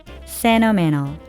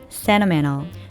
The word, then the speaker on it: sentimental: sentimental, sentimental. 중간에 들어있는 t가 모두 없어졌습니다. 공통점은 강세를 받지 않는 t가 n과 모음 사이에 있다는 건데요.